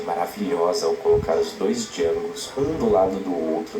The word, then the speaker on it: Django: ao colocar os dois jangos um do lado do outro nessa cena do balcão onde ele se apresenta e fala que o d é mudo e o Jango clássico